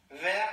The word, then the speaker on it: verre: Вер, alors так пишется, осторожно, вер, посмотрим потом, что вер это тоже зеленый. Но читается одинаково. Une plante. В смысле стакан, слово стакан и слово зеленый звучит одинаково. Звучит вер. Одинаково, да, но пишется по-другому. Une plante.